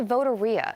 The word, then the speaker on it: Voteria: It's called a voteria. It's supposed to rhyme with loteria, Spanish for lottery, and its aim is